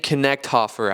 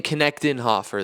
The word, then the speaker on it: Knechtenhofer: Aiden Knechthofer, I believe is how you say it. Sorry. Aiden Knechtenhofer. There's an E in there that I missed.